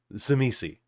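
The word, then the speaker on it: Tzimisce: different oh my God so one is like shash one is zitz one is zami so we I say zami yeah that is that is how it is pronounced in this world of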